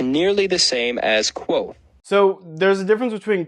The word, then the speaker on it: Kvothe: My name is pronounced nearly the same as Kvothe. Okay, so the first time that we see this, he wants us to pronounce it with a Q, but when we get to the audiobook, it sounds like this.